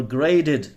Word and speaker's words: grated: olive oil, grated or grated. Sometimes this T in US, they pronounce it D, little d.